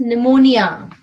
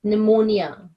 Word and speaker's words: pneumonia: sounds like f yeah P n is pronounced as n that is pneumonia so P is silent we don't say with P just pneumonia all right so likewise